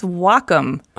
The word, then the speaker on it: Wacom: no well come no it's Wacom pronounced wah like the Japanese word for harmony and come for computer the Wacom Cintiq 16